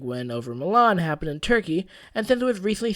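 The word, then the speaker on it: Türkiye: the country of Turkey perhaps more accurately and less confusingly pronounced more like turkey put put a comment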